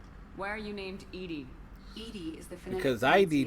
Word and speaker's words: EDI: EDI is the phonetic Because ID didn't pronunciation make of sense.